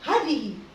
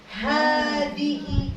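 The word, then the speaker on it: هذه: Ini panjang dibacanya. Hada, bukan hada. Aslinya mah kagak ada tulisan begini jadi. Nah, ya. Apalagi kalau di HP ya, di WhatsApp kagak ada begini aja. Tapi ini dibacanya bukan hadhihi, tapi hadihi saburah.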